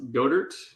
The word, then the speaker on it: Goedert: We got Dallas Goedert. Yep. I don't know if I pronounced that right. Got it. Yep. Silent E. Silent E.